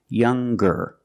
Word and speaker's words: younger: r or with est we're going to pronounce the G sound the hard G so it's younger G with a G sound stronger the youngest again